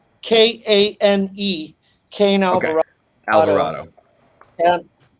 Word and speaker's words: Kane: Is it Kain or Kne? Spell it for me. K, the first name. So it's Kane, Kane Alvarado.